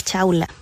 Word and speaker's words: Chowla: Quería saber sobre el teorema de Chaula. Teorema de Chaula. No solamente de Chaula, sino que es compartido. Pero Chaula es un gran matemático del siglo XX. Chaula se escribe Chowla.